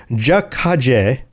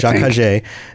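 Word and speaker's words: Ja-Kha'jay: Fatimai said, Jakajé, that's the way to pronounce that. Jakajé.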